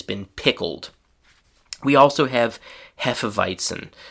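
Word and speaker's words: Hefeweizen: We also have hephiton which in English is pronounced pretty much the same way as in German.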